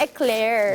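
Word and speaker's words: éclair: Eclair.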